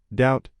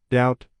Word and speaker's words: doubt: The B is silent. We say doubt not doubt.